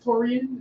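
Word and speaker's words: Taurean: Taurian? Is that pronounced? Taurian, yep.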